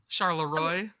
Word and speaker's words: Charleroi: Like the French way, but you pronounce it the way that I said it. Charleroi.